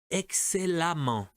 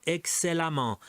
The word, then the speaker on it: excellemment: Et E, excellent, excellemment. Toute cette colonne se prononce amant, excellemment.